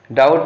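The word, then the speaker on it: doubt: अब देखिए यहाँ डाउट है, डाउट में DOUT का प्रोनाउंसिएशन किया जाता है, बी का नहीं किया जाता है, तो बी इसमें साइलेंट हो गया।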